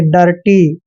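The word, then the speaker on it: dirty: है तो यहां पर डी आई का उच्चारण ए करेंगे यानी कि डे पढ़ना है डे और आर को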